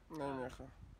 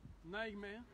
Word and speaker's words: Nijmegen: Nijmegen. Nijmegen. Nijmegen. C'est difficile à prononcer, mais ça s'écrit Nijmegen.